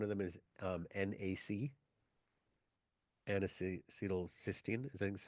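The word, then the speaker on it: N-acetylcysteine: this area one of them is um NAC anal cysteine is how you pronounce it so look at that up and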